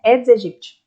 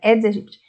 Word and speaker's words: Aedes aegypti: Aedes aegypti, a pronúncia correta, né? Aedes aegypti.